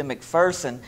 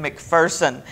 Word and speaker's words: McPherson: corrected visitors you know there's no fear in McPherson and so people who would come in and pronounce it McPherson would quickly be corrected and I just love